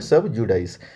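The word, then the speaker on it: sub judice: के विचाराधीन होता है तो उसको बोलते हैं सबजुडाइस इसकी स्पेलिंग भी आप देख लीजिए सब और जे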